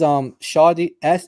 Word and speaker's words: Shadi: Shadi, how do you spell that? That is Shadi it's like shady, like SHADY, and then Nasser is NASSER.